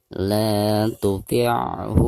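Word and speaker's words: لا تطعه: La tuti'hu, la dipanjangkan 2 harakat karena dihukumi mad tabi'i. Ada harakat fathah la lalu berhadapan dengan alif sukun.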